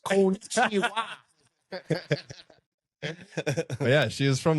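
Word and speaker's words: こんにちは: So it's pronounced konnichiwa.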